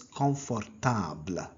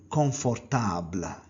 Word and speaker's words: confortable: Comfortable is pronounced as confortable. So it is comfortable. How do you say in French? C'est confortable. C'est confortable. Notice the M became N in French.